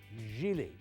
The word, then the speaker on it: Gigli: screen idols Ben Affleck and Jennifer Lopez it's pronounced Gigli and that guy who played Vinnie Barbarino on